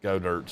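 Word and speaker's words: Goedert: Dallas, go Dirt's fine. If you want me to pronounce it Goddard, drop the E.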